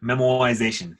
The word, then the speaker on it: memoization: tests are yeah memoization memoization that is the correct pronunciation and spelling I'm not I'm not just dropping the are for as a purple